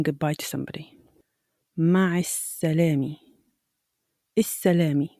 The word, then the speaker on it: السلامة: السلامة. We have here al tarif, and again, we don't pronounce the lam and we stress the S.